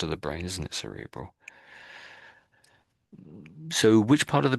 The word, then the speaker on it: cerebral: So that's a C. So it sounds more like an S, you might say. Cerebral. Cerebral. So cerebral hemorrhage. So that's a particular part of the brain, isn't it? Cerebral.